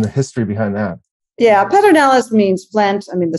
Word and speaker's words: Pedernales: better knowledge tell me the way the locals pronounce it in the history behind that yeah pedro nellis means flint i mean the stone plant uh